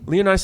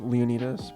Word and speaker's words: Leonidas: how do you say is it Leonidas right Leah nice is like the English pronunciation most people say it but the Greek way that I've always said it is Leonidas I don't care like